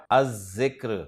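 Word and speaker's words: الذكر: जिक्र इस्म पर जब अलिफ लाम दाखिल करेंगे तो लाम नहीं पढ़ा जाएगा अज़-ज़िक्र।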